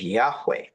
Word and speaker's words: Yahweh: That would be a proper pronunciation of Yahweh.